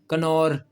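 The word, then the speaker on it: Knorr: के साथ ही है कनोर कनोर चिकन क्यूब नहीं है जो उसमें कनौर के और एन दोनों को बुलाया जाता है तो यहां पर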